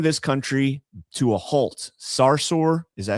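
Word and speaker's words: Sarsour: school and business shutdown with anti-Israel activist Linda Sarser whatever her name is Sarsur. I mean I don't really give a if you say her name correctly, but it's pronounced Sarsur.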